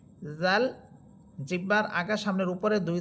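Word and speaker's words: ذال: মাখরাজ জাল হরফের মাখরাজ হচ্ছে জিহ্বার আগা বা অগ্রভাগ সামনের উপরের দুই দাতের আগার সাথে লাগবে।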